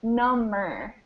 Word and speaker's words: number: just that this one, you don't hear the B sound. It's number. And this one is number. Number. Totally crazy. Totally a crazy distinction, right? So this one is kind of like the word home with a B, or tomb.